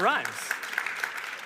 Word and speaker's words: Rhimes: this out of the park her last name rhymes with rhymes Shonda you nailed it Shonda Rhimes is she also an actress I don't think